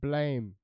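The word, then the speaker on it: BLAME!: So instead, I'm going to be talking about the manga Blam, or Blame, depending on whether you know how to pronounce it properly, which is Blam, Budamu.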